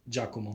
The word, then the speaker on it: Giacomo: your name right there the way my mother would pronounce it it's giacomo giacomo giacomo okay it's giacomo yeah it's pretty good